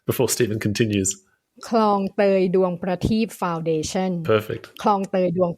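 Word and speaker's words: Duang Prateep: How would you pronounce it before Stephen continues? Klong Toi Duang Pratik Foundation.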